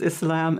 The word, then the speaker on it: Islam: many different pronunciations but the most correct is islam and muslim muslim yeah we're and now